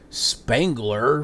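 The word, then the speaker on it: Spangler: announces bankruptcy last year Spengler which rhymes with Wrangler jeans candy company stepped in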